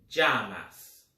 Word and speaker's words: llamas: Point to note, In Espanol, when you see two L's, it can be pronounced two ways. It can be pronounced either as a J or a Y.